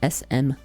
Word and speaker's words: Smyrna: And again, Smyrna is Smyrna. And Capri is, I mean, it's spelt like it sounds.